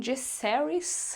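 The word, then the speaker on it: Jacaerys: o Jack caris que assim na série também falam jessis mas eu não gosto muito enfim o apilido dele é Jace Então faz sentido né Essa pronúncia mas enfim para mim é Jack haries porque eu li e achava que pronunciava assim tem o lucaris que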